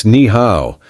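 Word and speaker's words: 你好: It's Niha, but you have to make your voice go up and down like music.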